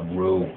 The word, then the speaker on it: Ryu: We didn't know Ryu was actually Ryu. Blanca, It's Rue.